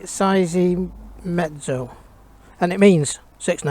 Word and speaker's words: Seiemmezzo: how to spell it it's how to pronounce it say sizing mezzo and it means six